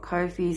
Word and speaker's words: Ko-fi: in the description it's I never know whether to call it coffee or Cofe some people call it cofi some people call it coffee but it's spelled KO High fi so but there are